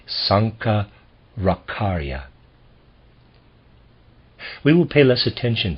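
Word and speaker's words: Shankaracharya: ra CH AR yaa I'm gonna pronounce that Sanka rock aria we will pay less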